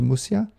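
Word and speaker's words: Muxía: if they just search for a road to mushiya yeah they can go to Facebook they can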